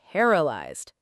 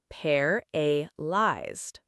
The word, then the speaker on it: paralyzed: paralyzed paralyzed The stress is on the first part, paralyzed.